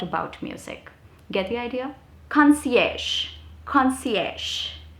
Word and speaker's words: concierge: the concierge desk okay concierge try and use it i'm sure you must have seen the word written it's spelled in a very different way but that's how it is pronounced difficult but fancy next